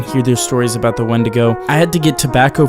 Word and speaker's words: Wendigo: But after all of that, he began to tell the story of the Wendigo, or how they pronounce it, Weekdigo, in the only language he had ever heard it, Cree.